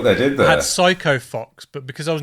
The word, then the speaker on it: Psycho: idiot as a kid, I kept pronouncing it Physico Fox. Physico? How do you even... Because it was Psycho, C-H-Y, whatever, but I didn't realise PH was spelt...